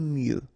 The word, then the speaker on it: mieux: prier prier aimer mieux final x not pronounc aimer mieux préférer préférer se préparer